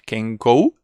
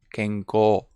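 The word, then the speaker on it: 健康: many words for example this one is not pronounced kenko is pronounced kenko kenko this one is not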